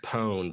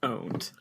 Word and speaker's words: pwned: __ ] just said pwned in the year of Our Lord 2020 also it's never been pronounced pwned it's pronounced owned yep but I wanted